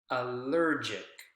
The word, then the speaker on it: allergic: to double check allergic allergic which syllable is the strongest there it's going to be the syllable that comes right before the suffix i see right allergic is the strong syllable there and that's what